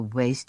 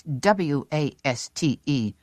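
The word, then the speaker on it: W.A.S.T.E.: But she'd pronounced it like a word. Waste. His face congealed. A mask of distrust. It's W A S T E lady, he told her, an acronym, not waste, and we had best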